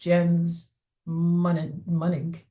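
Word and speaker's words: Jens Mönig: Snap, um, which is Jens Monig, who is German. The closest English sound is a U, as in lunch. So his name is pronounced Jens Monig.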